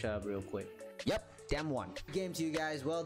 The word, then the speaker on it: DAMWON: Yep, Damwon.